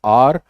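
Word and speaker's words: hour: उसको बोलते हैं, तो इट इज नॉट हावर, इट्स आर।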